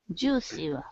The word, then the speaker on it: juicy: Juicy, different. Juicy. Yeah, no, it works. Juicy. Remember, Jew has that stress, right?